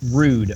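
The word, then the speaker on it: Ruud: the Netherlands rude rude his name is pronounced rude are you indeed yeah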